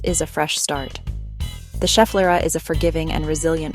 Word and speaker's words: Schefflera: The Schefflera, pronounced Schefflera, is a genus of flowering plants native to tropical and subtropical regions.